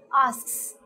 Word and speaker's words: asks: end like i said it's partially pronounced so you need to say asks that's how you need